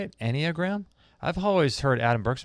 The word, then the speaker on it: Enneagram: out equi centric says just for info it's pronounced any a gram Enneagram as how you say it Enneagram I've always heard Adam